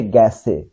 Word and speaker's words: গেছে: গেছে, এটা হবে গ্যাসে, গেছে উচ্চারণ হবে কি গ্যাসে, গেছেই সঠিক লিখবো কিন্তু উচ্চারণ করলাম গ্যাসে, তাই বলবো।